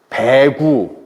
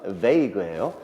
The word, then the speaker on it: vague: 애들한테 읽어보라면 별 발음이 다 나와요. 뭐 배구, 박유, 뭐 박국 다 나옵니다. vague예요.